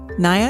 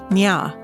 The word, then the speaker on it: Naya: Naya is a girl from the Nuer tribe. Among the Nuer, her name is pronounced Nya.